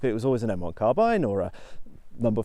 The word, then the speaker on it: carbine: YouTube videos from gun guys, because growing up it was always an M1 carbine or a number 5 jungle carbine or whatever.